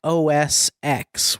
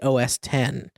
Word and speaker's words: OS X: it is pulling from mac os x which people always called it is really os 10. is it yeah man yeah so you've been maybe saying it wrong well you know what